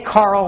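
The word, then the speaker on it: Karel: named after Carol and some people say Carl which is kind of actually closer to I believe if I don't know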